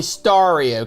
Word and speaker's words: Stario: is it is stario Christmas how do you pronounce that is it stereo star no it's definitely stario cuz you got stario now before we get